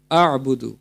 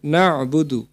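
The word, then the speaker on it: نعبد: নাবুদু আল্লাহুম্মা ইয়াকা নাবুদু এখানে আমরা অনেক সময় বলে উচ্চারণ করে ফেলি আবুদু এখানে হবে নাবুদু আল্লাহুম্মা ইয়াকা নাবুদু ওয়ালাকান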